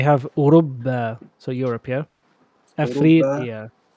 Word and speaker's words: أفريقيا: أفريقيا. It can also be said إفريقيا. So last time we said إفريقيا. Here we've written أفريقيا.